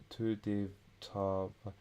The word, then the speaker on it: tyydyttävä: On minulle tyydyttävä.